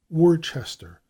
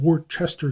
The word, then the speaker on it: Worcester: White in 1880 recorded the increasing habit of giving full value to the syllables of such borrowed English names as Worcester and Warwick. I have frequently noted the same thing. In Worcester County, Maryland, the name is usually pronounced Worcester,